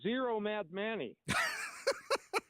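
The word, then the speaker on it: Zohran Mamdani: Well, number one, Ari, everybody's mispronouncing this guy's name. He's zero Mad Manny.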